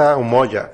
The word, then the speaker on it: Umoja: Se produce Umoja. Umoja, colectivo Umoja. Sí, aunque se escribe con Umoja, J.